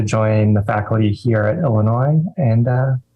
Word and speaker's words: Illinois: And first of all, I got to ask, do you pronounce it Illinois or Illinois? This is a dumb Southern question. Illinois.